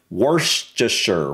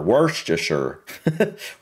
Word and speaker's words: Worcestershire: with Worcestershire sauce and It's Tricky pronunciation no kidding that's what works I can't even pronounce that properly worst worst just sure worst I've never been able to pronounce that sauce properly worse just sure worse just sure Worcestershire anyway uh I had